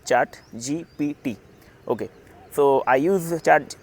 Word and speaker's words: ChatGPT: I was pronouncing that chart GPT wrong uh yesterday. Uh I was telling uh chart GTP. It is not chart GTP. It is chart GPT.